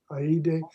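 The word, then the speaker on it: eide: And then to the right of the screen, there was something, and it's spelled E-I-D-E. Right. Aide.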